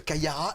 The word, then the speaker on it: Kaia Ra: Kayara, est-ce que je prononce bien ?